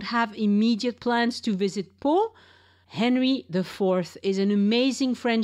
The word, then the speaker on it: Pau: On today's episode, Elise and I talk about the lovely city of Pau. That's spelled P-A-U, where you can see the famous Chateau of Henry IV, a most interesting and unusual French king.